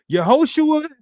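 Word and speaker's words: יהושע: Yehoshua is the long form of the name of the Messiah. That's how you say it in Hebrew.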